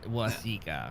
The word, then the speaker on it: Waseca: It's Waseca.